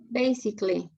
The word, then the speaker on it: basically: all the words like this one basically they don't pronounce the a they see basically especially especially especially intrusive